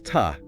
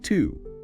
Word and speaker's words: to: And a quick pronunciation point on the word to in the middle. Another schwap. You're getting good at this. Yes, it's ta not to.